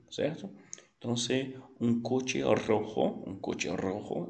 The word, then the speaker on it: rojo: Rojo, que parece roxo, né? É uma cor, mas é vermelho, certo? Então, se um coche rojo é um carro vermelho.